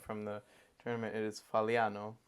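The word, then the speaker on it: Fagliano: It is Faliano. You do not pronounce the G.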